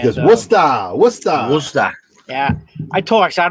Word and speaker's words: Worcester: us you got to say it like this worcester what's yeah i talked i don't know how